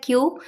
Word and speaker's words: queue: तो इसकी correct pronunciation होती है क्यू। 5 लेटर्स में सिर्फ क्यू को हम प्रोनाउंस करते हैं, बाकी जो और लेटर्स होते हैं वो ऑलमोस्ट साइलेंट ही होते हैं।